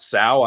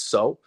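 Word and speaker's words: Sow: City So's head coach, and it is So, it's not Sal. I'm guilty of pronouncing it incorrectly for a while, but according to his head coach at Eastern Michigan, it's So.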